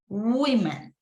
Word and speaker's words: women: Now, in the case of woman, we also have a difference. We say a woman, and when we have several women, we are going to pronounce women, okay? Ahora, aquí la pronunciación es así, ¿verdad? Woman es, la apertura de la boca es woman, woman. In this case is women, women, woman, women, woman, right? Woman and plural, women.